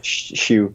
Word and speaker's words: Shu: specifically for Shu is that how do you pronounce the name of the game by the way hey Shu yes yes oh yeah okay okay yeah yeah